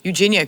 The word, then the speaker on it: Eugenia: As far as Eugenia, sorry, I was saying her name wrong before. Eugenia Cooney.